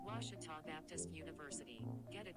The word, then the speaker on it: Ouachita: ouachita sports digital network i've heard people say oh a cheetah oh wichita oh a cheetah is it pronounced oh akita searching for washi at a baptist university back in texas everybody pronounces it wichita but really it's ouachita washington washington how would